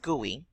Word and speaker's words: GUI: number three creation of graphical user interface pronounced GUI at the forefront at